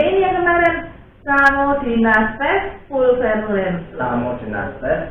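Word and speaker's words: Psammodynastes: Samodinastes. Iya, P-nya bacanya nggak terlalu cetok, bukan pes samo tapi samo. P-nya cuma sedikit aja.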